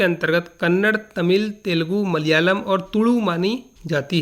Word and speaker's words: मलयालम: इसका सही उच्चारण मलयालम होता है।